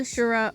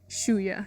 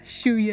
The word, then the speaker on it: Shuya: correct me right here shuya shuya is the name I don't know where I got shuri from shuya is his name shuya ends up